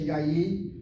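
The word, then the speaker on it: יין: If you look at the word yayin, we don't say yayin. Yayin, the patak is a short vowel, accent on the first syllable. When you accent the first syllable of the word yayin, it's not because you're drunk. It's just that Hebrew grammar demands it that way.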